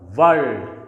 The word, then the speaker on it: world: Again this R is preceded by this consonant L which produces a consonant sound, so it will be kept silent while pronouncing this word, world.